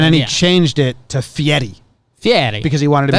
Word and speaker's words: Fieri: He changed his name to Fieri.